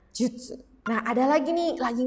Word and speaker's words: 術: Ya, diingat-ingat ini dibacanya jutsu.